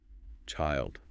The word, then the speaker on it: child: The singular is pronounced with a long I sound like I. Child.